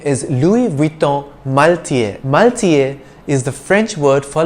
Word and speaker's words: Louis Vuitton: spanish pronunciation balenciaga anymore louis vuitton is one of the world's leading fashion houses the s is silent in the first name louis and just as in